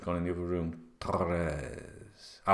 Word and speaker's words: Torres: Try and pronounce Torres by doing that roll in the R thing. Torres. I couldn't do that when I first moved to Spain. Torres.